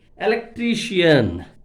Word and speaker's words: electrician: remaining words now second one if you take electrician electrician my dear students electrician what is the